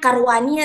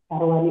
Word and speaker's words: Sarwani: Ini bacanya Karwani atau Ya, Carwani? Sarwani aja boleh.